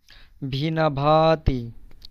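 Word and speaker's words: виноватый: এখানে ভিনা, ভিনা, এন এর পরে ও আছে, বাট এটার উচ্চারণ আ হচ্ছে।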